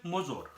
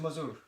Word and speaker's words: Mozor: Mazur? No Mozor. I do have problems Like a pronouncing motor, your name, sir. like a motor, but no T with a Z. Mozor.